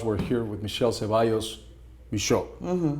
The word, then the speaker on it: Michot: We're here, for those who are listening to us, we're here with Michele Ceballos Michot. The T is silent.